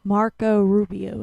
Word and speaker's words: Marco Rubio: is president of the Waffle House Dez Republican Marco Rubio is that how you say his name yes